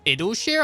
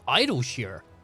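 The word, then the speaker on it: Idyllshire: not least among them wait it's called idle share i thought it was idle shear i've been pronouncing it wrong for a year fascinating as all this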